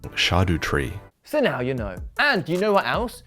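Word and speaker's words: Erdtree: DLC most of us have been calling it scad tree which makes sense because that's how it's bloody spelled but according to fromsoft expert vti VI it should be pronounced shadu tree so now you know and you know what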